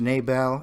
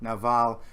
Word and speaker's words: Nabal: So the name of the man was Nabal, in American pronunciation, Naval, and there probably were